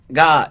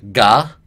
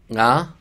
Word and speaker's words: が: So が is pronounced with like a little bit of a nasal sound at the beginning. It's not just が, it's が, like.In the same way that ro isn't ro, it's ro.